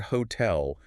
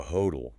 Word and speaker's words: hotel: They pointed out that if T's between vowels always become flappy T's, why is the word hotel pronounced with a sharp crisp T, why don't Americans check into a hodel?